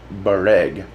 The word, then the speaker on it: boreg: In Armenian, they are called boreg, pronounced approximately bareg, with lots of roll on the R's.